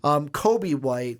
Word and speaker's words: Coby White: Half the time I say it correctly, I still think I'm putting that L in there. Coby. Coby White.